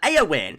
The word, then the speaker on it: Eowyn: UK met for storm AO win I think we're pronouncing this AO win AO win I was